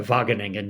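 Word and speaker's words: Wageningen: We've had a pilot o only because I've been there and I know how to pronounce it and I say it's a vageningan university.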